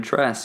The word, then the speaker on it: Tres: name into Twitter dress you can find me there that's the best way to dress like the spanish number for three just pronounced like a white person day 3 so yeah thank you